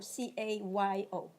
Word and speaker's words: Cayo: You don't make the interpret Cayo as in C-A-L-L-O or C-A-Y-O? C-A-Y-O. How you say it? Cayo. Oh, Cayo. Cayo. Cayo. Yes, Your Honor. In Colombia we say Cayo.